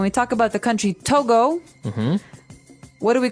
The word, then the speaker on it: Togo: Because if you look at it, I would say to go, right? But it's not to go, it's togo.